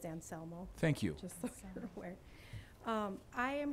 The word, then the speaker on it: Anselmo: welcome good evening um the correct pronunciation of my last name is anselmo thank you um i